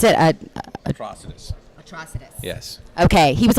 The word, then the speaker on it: Atrocitus: So how do you pronounce it? Atrocitus.